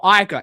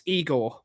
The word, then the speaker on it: Igor: Uh, is it pronounced Eigor or Iger? It's Eigor because he's Croatian.